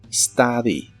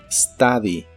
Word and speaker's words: study: study que significa estudiar la u se pronuncia como una a normal en esta palabra study study Y estos son los